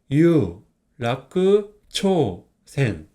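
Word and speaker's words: 有楽町線: 뭐라고요 이류 이거는 재길 이거는 바두 정입니다 그래서 유 라크 초센 곱 번째는이 보라 색상의 제자가 있는 지하철입니다 한조몬 생이라고 읽어요 한자를 분석해 보면 이거는 반반이고 이거는 감출장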